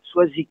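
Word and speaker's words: Soazig: Mais rappelez-vous, prononciation du mot tout seul, Soazic, il se prononce K.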